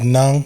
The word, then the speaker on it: ng: In the Filipino language Tagalog, that we have ng as a sound. Like that's the Like pronounced as nang. nang. Yeah. What? I don't get it. It's just It's just ng. yeah, ng. The letters NG, it's pronounced Nang.